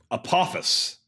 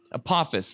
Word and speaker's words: Apophis: hit Earth in 2036 Apophis that's a pause Apophis excuse me but still if not